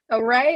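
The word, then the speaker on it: Awry: of sunshine is because array is my middle name because it's spelled a-w-r-y array of sunshine yes so not quite like you know in math but pretty close sounds the same right so um it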